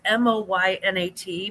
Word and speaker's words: Moynat: And I'm probably mispronouncing that because I'm so American and Midwestern, and I'm not French at all. But it's Moynat, Moynat.